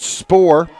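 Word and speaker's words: Spour: quarterback Brett Brett Spore s-p-o-u-r pronounced Spore they'll pick up about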